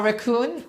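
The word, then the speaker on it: Wreckon: So my raccoon, our raccoon, it's spelled W R E C K O N. So but it sounds like a raccoon like this like the animal.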